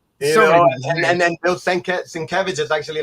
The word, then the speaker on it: Sienkiewicz: So these were just like, I mean, back then, how did we pronounce? We said Bill Sinkiewicz. Sinkiewicz, yeah, man. And to this day, I still mispronounce. And then Bill Sienkiewicz is actually like one of my dear friends.